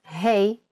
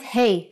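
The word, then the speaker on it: ה: time for Jana's insights doesn't hey from this lesson sound like hey in English when you say hello to your friends that's exactly the sound for the Hebrew letter hey now you can think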